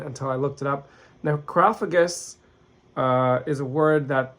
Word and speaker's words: Necrophagus: probably four years uh it's called necrophagous at least that's how Americans and British people pronounce it uh it's a Spanish movie so maybe they would pronounce it necro fagus uh or necro fagus something something like that but either way if